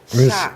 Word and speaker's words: Schoch: Spelled how? SCHOCH. Shock. Yeah, it's pronounced like the electrical shock.